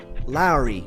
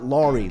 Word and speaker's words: Lauri: flowers and let's just please say his name right Larry not lri lry don't be a dumb